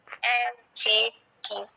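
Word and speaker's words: adjective: তাহলে এই দেখো এখানে যে আছে অ্যাডজেক্টিভ শব্দটা তো অ্যাডজেক্টিভ না, শব্দ হচ্ছে দেখো শব্দ হচ্ছে অ্যাডজেক্টিভ, অ্যাডজেক্টিভ মানে ড নাই, ড এর উচ্চারণ, ড এর উচ্চারণ নাই।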